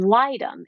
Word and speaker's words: litem: this is a guard it's actually three words it's guardian and then add a d and then litum l-i-t-e-m so a guardian ad